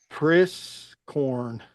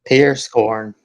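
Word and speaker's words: Prieskorn: Caden Priscorn from Houston. You're like, Ralph, you didn't say that right. Praise Pierce Corn. Pierce Corn. Yeah, I said that right then. Pierce Corn. Yeah, I said it right.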